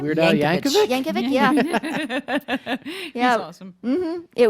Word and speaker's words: Yankovic: Yankovic, yeah.